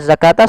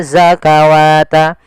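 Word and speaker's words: الزَّكَاةَ: Nah, pada lafal zakata sama juga sebagaimana penulisan rasem daripada kata salah yaitu di sini bukan dibaca zakawat. Tapi adanya fathah pada lafal ka bertemu dengan huruf alif kecil.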